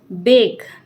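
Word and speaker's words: bark: B letter है अपना बेक। बेक होता है सेकना, जैसे आई एम बेकिंग चपातीज, है ना। तो बेक, बेक, बेक्ड, बेक्ड, ठीक है। बाक, ये आर है ना, यहाँ प्रोनाउंस नहीं होगा, साइलेंट है।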